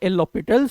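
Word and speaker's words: L'Hôpital: L hospitals rule or lopital rule that's primarily it is called the H is silent over here so as per the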